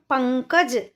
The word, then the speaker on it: पंकज: हमने नहीं किया है तो कैसे करेंगे पं कज तो कहां आ रही है आवाज पं यानी पा